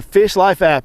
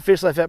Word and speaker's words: Fish Lyfe: to go download the Fish Life app. It's spelled with a Y, L-Y-F-E, Fish Life app.